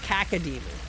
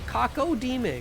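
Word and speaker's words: Cacodemon: Kaca demon. Kaca demon. That sounds wrong. That's not how you pronounce that. It's got an O in it. Kako demon.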